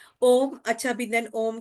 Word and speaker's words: ओम: उन्होंने बताया हुआ है जब हम ओमकार ध्यान साधना करते हैं तो ओ का उच्चारण छोटा होता है मा का बड़ा होता है सूर्य नमस्कार में जब हम ओम का उच्चारण करेंगे तो ओ बड़ा रहेगा मा छोटा रहेगा तो इसका क्या रीजन